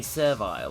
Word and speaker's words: servile: When you could just say servile or something like that. Less syllables. Rhymes with bile.